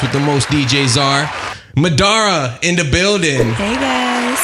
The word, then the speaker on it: Madara: that happen a lot he said it right the first time and then he decided to add his own little twist in there Madera do you get that